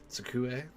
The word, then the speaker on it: 机: Oh, that initial T is a little hard for me to pronounce. Tsukue?